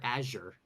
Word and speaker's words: Azure: manager at aour okay do do you prefer to say azour or Azure that's Azure I think that's Azure Azure like like the dark blue color that's azour that's the same word though isn't it I I